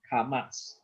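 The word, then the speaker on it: kamats: don't worry about that it's remember the sound karmas okay as long as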